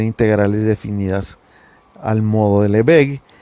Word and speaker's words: Lebesgue: Lebesgue. La S no la pronuncian. En este caso, no se pronuncian el nombre de este señor, es Lebesgue.